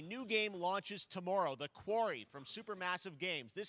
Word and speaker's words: Quarry: it quarry quarry query it's quarry yeah query would be q-u-e-r-y that's when you ask a question i've always pronounced this query right now quarry a rock quarry oh it's the yeah